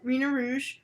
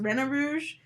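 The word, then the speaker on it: Rena Rouge: we get rina rouge although i don't like that pronunciation i feel like you should be drawn to reno rouge because reyna comes from renard who is a i think which is the french way to say fox i think fox in french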